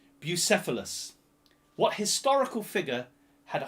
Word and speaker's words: Bucephalus: I looked it up to remember how to pronounce it. So what historical figure had a horse called Bucephalus? B-U-C-E-P-H-A-L-U-S.